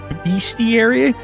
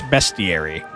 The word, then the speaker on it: bestiary: is beastiary. Funny that you mention it. It's very specifically not beastiary. I thought it was too, but it is not. It's bestiary.